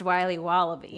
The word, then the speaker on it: Wiley Wallaby: Wiley's wallabies wallaby Wally's will be wobba beats pronounced Wiley wallaby well it's very good it's called Wiley wallaby